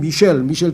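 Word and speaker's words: Michel: 그 다음에 스페인어도 미겔, 그 다음에 이탈리아로 치면 미첼, 또 프랑스로 가면 미셸 통통한 미셸.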